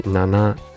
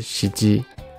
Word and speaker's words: 七: 话是六，七有两个读音，一个是ナナ，一个是シジ。通常ナナ会用的比较多，在某些